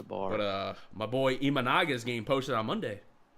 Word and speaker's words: Imanaga: but uh my boy imanaga is getting posted on Monday sh I don't know if you saw that it's pronounced imanaga right yeah imanaga sh imaga